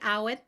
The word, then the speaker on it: Awen: Awen. Awen. And you say it Awen? Awen. Awen. Oh, yeah. Lovely. Like, when is it?